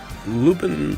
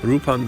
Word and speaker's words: Lupin: Definitely Lupin the Third, or Lupin the Third, depending upon how you want to pronounce it.